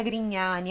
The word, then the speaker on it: Grignani: É isso, nós encerramos por aqui a nossa aula sobre pronúncias da língua italiana baseadas na canção La mia storia fraledita di Gianluca Grignani.